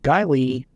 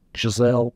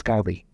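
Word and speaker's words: Geissele: It's got a Guy Lee, looks like it's pronounced Giselle. Mm-hmm. It's not, it's Guy Lee.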